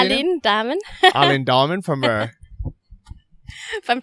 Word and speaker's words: Aline Dahmen: How do you say Aline Dahmen.